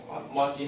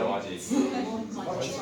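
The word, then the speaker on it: 麻糬: The speaking muaji, how to say the muaji? Muaji, just muaji.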